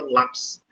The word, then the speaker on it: lápis: direita para a esquerda por exemplo a palavra lápis né eu falei o lá como intensidade então o ponto última